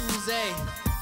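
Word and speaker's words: Oozie: Double O-Z-I-E, it's not Uzi, it's Uze. Say it like you're French, let's get it.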